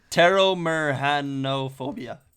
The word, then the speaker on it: Pteromerhanophobia: It's a PT word, so I'm gonna ignore the P. Pteromerhanophobia. That's how you pronounce it.